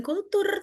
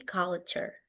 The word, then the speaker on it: culture: And then the way you say culture. Ini bukan kultur tapi culture. Culture.